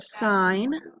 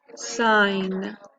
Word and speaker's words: sign: like in the word sign that g is silent right and you just hear it as an n sign all right now there's